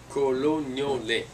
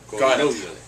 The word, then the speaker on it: Colognole: Colognole. Accent of the second O. Colognole.